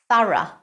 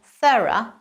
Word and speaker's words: thorough: The correct pronunciation is thorough in British English and thorough in American English.